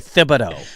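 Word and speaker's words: Thibodeau: I've had people tell me it's technically thibido. Thibido, but he refuses to do the th sound.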